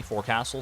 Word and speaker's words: forecastle: Forecastle is pronounced very weirdly. Forecastle, sorry. Silent T. Is it a Worcestershire situation?